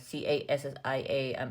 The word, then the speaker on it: cassia: One is cassia, Cassia, I think it's pronounced cassia cinnamon, and the other one is Ceylon cinnamon.